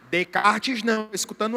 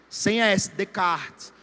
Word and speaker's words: Descartes: Descartes não, escutando S. Descartes. Sem S, Descartes.